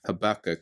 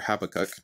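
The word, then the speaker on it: Habakkuk: you one quote from habak or habac depending on how you like to pronounce it I'll just read you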